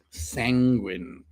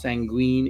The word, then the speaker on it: sanguine: Sanctimonious and sanguine. All right. So again, the last word is not pronounced sanguine, it's sanguine.